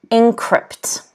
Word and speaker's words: encrypt: the next word is encrypt encrypt notice that the stress again is on the second syllable can everyone say this